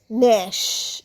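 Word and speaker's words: gnash: branches পুরনো গাছের ডালগুলো মেকানো ছিল নেক্সট কামস ন্যাশ এখানেও দেখো জি প্রথমে আছে জি আর এন প্রথমে আছে তো জি এর উচ্চারণ হবে না শুধু এন দিয়ে হবে ন্যাশ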